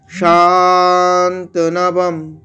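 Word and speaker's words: শান্তনবম্: যেহেতু শাটাকে দীর্ঘ আছে তাই শান্তনবম, এখানে অনস্বরটা অর্ধেক ম উচ্চারণ হচ্ছে, অনস্বরটাকে ম উচ্চারণ করছি। কেন? কেন পরে প বর্গের প আছে, তাহলে প বর্গের আনুনাসিক যেটা সেইটা এখানে উচ্চারণ হবে অনস্বরটা, সেই কারণে ওটা অর্ধেক ম উচ্চারণ হয়েছে।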